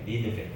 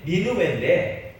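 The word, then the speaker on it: נינוה: 니느베. 그러니까 우리로 말하면 이제 니느웨인데 이것을 히브리어로 발음하면 니느베입니다.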